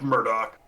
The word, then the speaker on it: Mordrak: Is it Mordrak? Pronounced Murdoch.